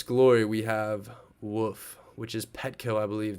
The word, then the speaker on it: WOOF: So moving on back to our list, the next is going to be WOOF, better pronounced as woof.